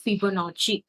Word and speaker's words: Fibonacci: ஒன்னு வந்து ஃபிபோனாச்சி. சோ இதை எப்படி ஸ்பெல் பண்ணணும் அப்படின்னு பாத்தீங்கன்னா ஃபிபோனாச்சி, ஃபிபோனாச்சி, FIBONACCI. ஸோ ஃபிபனாச்சி இப்படிதான் ப்ரொனவுன்ஸ் பண்ணணும்.